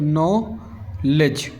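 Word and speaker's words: knowledge: य लिखा हुआ है इसमें के साइलेंट है तो नोलेज अब इसमें देखिए डीजीई आ रहा है डीजी आ रहा है इसका मतलब क्या है इसका मतलब यह है कि डी साइलेंट है ठीक है डी का कोई साउंड हमें ऐड नहीं करना है इसे क्या पढ़ा जाएगा नॉलेज अब बात करूं इस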